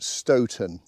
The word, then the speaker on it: Stoughton: I should point out right at the beginning, locals pronounce it Stoughton.